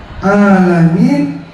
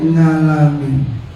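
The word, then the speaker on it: الْعَالَمِينَ: Saya bilang ain, dia bilangnya ngain. Dia bilangnya nga. Jadi kalau baca Al-Fatihah, orang-orang baca Alhamdulillahi Rabbil Alamin, dia bacanya ngalamin.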